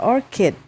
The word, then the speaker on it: orchid: bacanya nih ya Anggrek Coba kita bacanya Ya orkid cara bacanya adalah orkid Oke kemudian nah Berarti